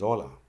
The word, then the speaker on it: hola: The H is always silent. Example is hola.